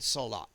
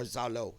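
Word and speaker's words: Saulot: What that was, a physical representation of the battle between Tremere and Salat, or Zalo, as I like to refer to him, the Kydean pronunciation.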